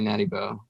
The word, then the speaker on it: Natty Bo: But the dude, Natty Bo, right? That's what you guys call him, or am I saying it wrong? Or is it Op 1? No, yeah, that's what they say, Natty Bo.